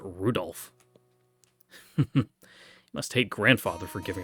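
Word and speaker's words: Rudolf: tell you that that mess of character is pronounced Rudolph must hate grandfather for giving him that name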